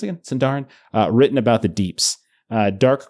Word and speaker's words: Sindarin: How do you pronounce it again? Sindarin.